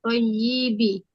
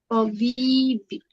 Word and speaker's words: طبيب: Hadza sayyaratun thayyibi. طبيب bacanya. Tabibi.